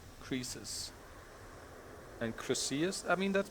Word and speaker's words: Croesus: How do you pronounce that in English? Croesus? Wikipedia says, yeah, Croesus.